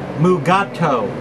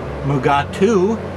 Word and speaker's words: Mugato: I believe Don Post called it Mugato. However, in the episode, it's pronounced a couple of different ways. Uh Dr. McCoy calls it Mugatu, and you can't figure